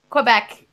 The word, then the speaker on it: Quebec: am they sure back you'd say Kubek yep that's miss Phil I'm gonna pronounce it like that don't you say Kubek as well no we say Quebec eBay clearly Quebec all right Birmingham whoa